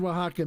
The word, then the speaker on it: Oaxaca: buy anything from oaxaca and it's spelled w-a-h-a-k-a just for those like like he's spelled it here on the it's spelled exactly like that um their mezcals are